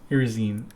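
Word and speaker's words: Iresine: We were looking up pronunciations right before this. Irisine herbacity. Irisine.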